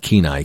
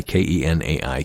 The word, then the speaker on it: Kenai: It's pronounced Kenai, Kenai, Kenai, for the Kenaitze tribe, I imagine.